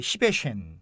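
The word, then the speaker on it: Szívesen: 그리고 천만에요가 좀 발음을 조심해야 되는데 천만에요가 이제 그 시베쉔.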